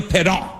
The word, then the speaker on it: Parent: a guy named Bernie Pedon. Pedon, but spelled parent. Pedon, but spelled parent, but French do that. They make ENT silent, all their words, the words sound cool. Pedon!